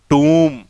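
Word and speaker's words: tomb: इसका होगा टूम, इसका होगा टूम, और इसका होगा वूम।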